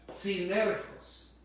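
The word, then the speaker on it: συνεργός: de colaboradores viene de una palabra griega que se pronuncia de la siguiente manera sin euros o sea que significa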